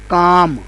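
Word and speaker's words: calm: है दूसरा लफ्ज है काम अब यह लफ्ज काम है और एल इसमें भी साइलेंट है तो दो स्ट्रोक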